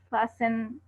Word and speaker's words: fasten: Just like listen, fasten, castle, hustle, and whistle. They are T is silent.